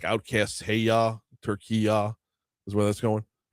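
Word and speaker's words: Türkiye: She said uh turkey ya with a y ah on the end.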